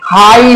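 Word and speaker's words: high: H silent होता है जब भी किसी शब्द के अंतिम में जी एच हो तो जी एच हमारा साइलेंट हो जाता है फॉर एग्जांपल आप देख सकते हैं हाई में जी एच हमारा अंतिम में है आखिर में है लास्ट में है यानी कि इसको हम हाई पढ़ेंगे ना कि हम जो है हाई पढ़ेंगे क्यों व्हाट इज द रीजन क्योंकि इसकी रीजन ये है कि जीएच हमारा साइलेंट हो जाएगा इसको हम नहीं पढ़ेंगे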